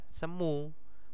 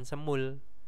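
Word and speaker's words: 스무: Nah, kalau misalkan cuman 20 ya semu, bukan semul.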